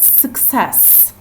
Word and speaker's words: success: dim or Satish and success success so the SIL stressed syllable is the second syllable success then that means